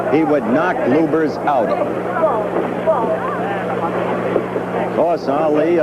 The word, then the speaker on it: Lubbers: Muhammad Ali against Rudi Lubbers. Or Lubbers. It's pronounced both ways. Lubbers is probably more technically correct. Anyway, it's the way Rudi wants it said.